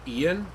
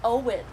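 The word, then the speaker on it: Eoghan: Like E O G H A N. How do you think that's pronounced? What about uh Ian? No, it's Owen.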